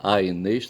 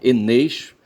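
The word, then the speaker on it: Aeneis: Está escrito Aenês, tá certo? Mas eu não vou pronunciar Aenês, tá certo? Eu vou pronunciar Enês, porque eu estou entendendo que é um dígrafo ali, o AE, certo?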